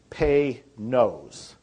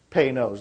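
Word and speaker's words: Panoz: name and it's pronounced if you want to pronounce it right it's pay nose pay knows like p-a-y and then n-o-s-e knows is how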